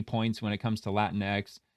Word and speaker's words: Latinx: when it comes to Latin X. It's genderneutral. It originated from online LGBTQ and academic communities. and the pronunciation. While the X is pronounced like the letter X in English, the term can be